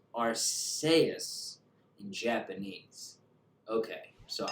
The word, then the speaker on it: Arceus: Japanese game and it's arseus in Japanese okay so I've been pronouncing it the way the creators pronounce it which is the way